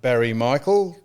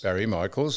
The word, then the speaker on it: Barry Michaels: I watched it uh against Barry Michael. M Barry Michael. Michael. Michaels. Let's get his name right. With an S. Yes, Barry Michaels.